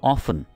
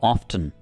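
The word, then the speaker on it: often: इसकी इंग्लिश होगी हाउ ऑफन, या आप इसमें टी को भी प्रोनाउंस कर सकते हैं, ठीक है, आप कह सकते हैं हाउ ऑफ्टन, ठीक है।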